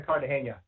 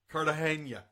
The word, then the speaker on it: Cartagena: How do you pronounce that? We were in Cartagena. Cartagena.